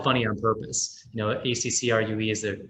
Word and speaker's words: Ackroo: we spelt it funny on purpose you know acc rue is the correct pronunciation but we kind of stole the two